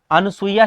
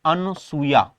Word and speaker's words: अनुसूया: हम अंजलि कहते हैं अनुसुइया शब्द भी गलत लिखा हुआ है साथियों मूलतः शब्द होता है अनुसूया लेकिन उच्चारण धीरे-धीरे हमारा गलत होता है गया और हमने इस शब्द को बना दिया अनुसूया सती अनुसूया का आश्रम